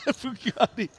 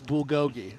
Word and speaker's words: bulgogi: do have some Bugatti bugti first of all I pronounced it bulgogi okay but I know now it's bulgogi okay and I actually